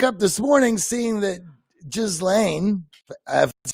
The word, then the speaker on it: Ghislaine: And then I wake up this morning seeing that Ghislaine, that's how we pronounce it.